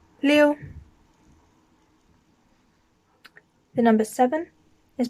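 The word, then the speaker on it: 六: up repeat after me the number six is pronounced lil sounding like leo but more can join together liu and that is fourth tone again going down liu liu the number seven is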